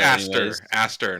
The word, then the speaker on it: Aster: You should probably spell It's it Aster. anyways. Aster, not Astley.